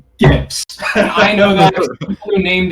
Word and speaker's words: GIF: thing is reaction gifts which is pronounced gifs i know that who